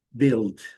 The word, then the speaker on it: build: Build. Letra U. silenciosa. El o L com som e o Dio aqui não build D é letra D D D build e building também é é a a derivada aqui também.